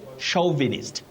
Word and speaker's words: chauvinist: Donald Ochola of Homa Bay, you say chauvinist, chauvinist. Male chauvinist, not chauvinist.